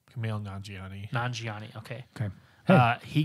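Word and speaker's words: Kumail Nanjiani: first correct me how to say his name camille nanjiani nanjiani okay okay uh he got jacked for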